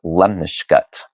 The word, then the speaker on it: lemniscate: what's known as a Lemniscut. What? A Lemniscut. I think I tried to add an extra syllable in there. It kind of looks like it's spelled lemniscate, but trust me, it's pronounced Lemniscut.